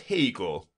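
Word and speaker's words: Haigha: His name is Hegel." He pronounced it to rhyme with mayor.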